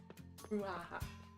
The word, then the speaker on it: brouhaha: Brouhaha. You can say it like, you remember in Finding Nemo when they went shark bait, ooh ah ha ha.